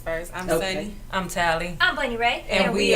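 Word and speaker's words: Tali: And Hi, I'm Tally, and that's spelled T-A-L-I.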